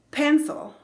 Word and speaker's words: pencil: Y el último ejemplo de esta serie es pencil, ¿ok? Lápiz. La primera sílaba, que es donde está el estrés, se pronuncia con ese sonido de E, que es un sonido más largo que la del español.